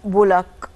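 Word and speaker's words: بولاق: بولاك على فكرة، بولاك هي بس بنقول بولاك.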